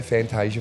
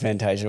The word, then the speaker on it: Fantasia: Fantasia is your traditional Italian pronunciation? In Italy, if we're in Italy, it would be Orazio Fantasia, which is a little bit, cringy when you say it, but that's, But that's your name.